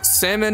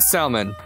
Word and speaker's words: salmon: pronounce it I know the word salmon or salmon has two main pronunciations to my knowledge salmon and salmon one doesn't use the L one does it's original